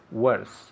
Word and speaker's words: worse: great now pronunciation worse worse worse worse okay i see worse worse okay so it's written w-o-r-s-e worse it sounds like an e worse worse so what's